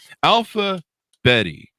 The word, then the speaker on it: Alpha Bette: I tend to call her Alphabet. Alphabet. I should have asked that Bette before Davis, the show. like Bette Davis. Betty Davis eyes. There you go. Bette. So Alphabet came out Bette Midler.